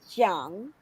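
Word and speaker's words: Zhang: oh my god remember if you cannot pronounce the letter z at the z-h properly make use of the letter j pero do not add letter i can say the way you pronounce it because it is jang i don't know miss l okay so again z-h-a-n-g the proper way of pronouncing this pinion or phonetics is trunk that is principal now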